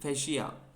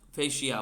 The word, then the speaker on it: fascia: Deep फैशिया FASCIA फैशिया। Okay sir. ठीक है, तो जो हमारे लेग है उसमें स्ट्रक्चर रहता है जिसका नाम है डीप फैशिया, वो यहाँ पे आके अटैचमेंट करेगा ऐसे।